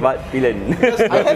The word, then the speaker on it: Svartpilen: That's how we actually pronounce the name. Svartpilen.